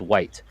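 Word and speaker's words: wight: and it's white and it's spelled w g HT but it sounds like you're saying the the the the color the absence of color white but it's white so another name for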